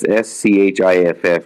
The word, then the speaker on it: Schiff: It's SCHIFF, like Schiff. Oh, that's Schiff. That's Shifty Schiff. Yeah, he was actually asking some pretty damn hard questions and shit, too. I like those two guys. Yeah, Schiff is a psychopath, by the way, but fine.